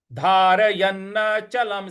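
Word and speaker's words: धारयन्नचलं: अगला पद है धारयन्न चलम स्थिर। यहां ल के ऊपर जो अनुस्वार है उस पे म का उच्चारण ले आएंगे। तो ये हो जाएगा धारयन्न चलम स्थिर।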